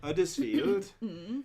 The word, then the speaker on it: Huddersfield: In fairness, most people will have watched the video and Lexi, I am so surprised because Lexi actually commented when I said Huddersfield without the H.